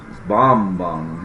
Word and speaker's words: Bambang: And then we had services Wednesday evening in his church in Bamban. That's how we would pronounce it, but it's Bambang here, Philippines, and had a good crowd, had a good response.